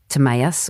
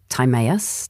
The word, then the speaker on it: Timaeus: And I guess something worth noting is that a seminal work was written by Plato in 360 BC called Timaeus or Timaeus, depending on your pronunciation.